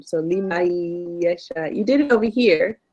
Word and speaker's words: لمن يشاء: For this one, remember, we don't pronounce the noon. So limayasha.